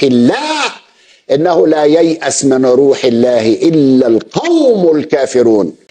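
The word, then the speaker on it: رَوْح الله: إنه لا ييأس من روح الله إلا القوم الكافرون. هنا بيحرف في نطق الآية، الآية بتقول روح الله بفتح الراء وتعني فرج الله ورحمته، وليس روح الله بضم الراء كما نطقها المدلس الكذاب.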